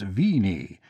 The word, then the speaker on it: Bennu: He casually and calmly fails to mention that Bennu is pronounced Vini in modern Greek, and was perhaps so pronounced in some of the ancient Greek dialects too.